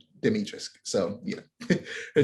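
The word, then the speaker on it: Dimitrescu: um demetrius um and by the way it's pronounced demetrius they say it in the game ethan says it's demetrius so yeah her name and it's i have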